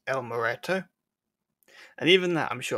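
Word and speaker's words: El Muerto: I only realised after the fact that we were saying the name completely wrong. It's actually meant to be pronounced as El Moreto.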